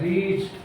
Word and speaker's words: reach: रीच, RE ए का नहीं हो रहा है, REACH, टीच। तो जहाँ पे ई आ जाए, ई के बाद ए आता है, उसका प्रोनाउंसिएशन नहीं होता है।